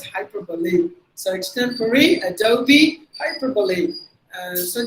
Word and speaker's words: hyperbole: But it's actually pronounced as hyperbole.